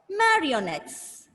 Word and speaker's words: marionettes: many syllables four bubbles when you divide the word into syllables you should focus on the vowel sound okay each syllable will have a vowel sound so ma re yo nuts mario next four syllable words so string puppets are